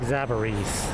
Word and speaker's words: Zabarise: Is TTS pronouncing Zabarise correct, or is it like Zabarise? No, that's pretty close. More like Zabarise, yeah. That's at least how the family says it, so I guess that's correct.